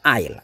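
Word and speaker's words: aisle: file next Eyes No cara ucapkan ini kayak gini saja yah esnya tidak diucapkan air air Nah kalau bentuk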